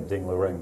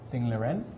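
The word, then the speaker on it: Ding Liren: I love how you say Ding Lirin, by the way. Ding Lirin? No, I think you pronounce it correctly. It just sounds very good.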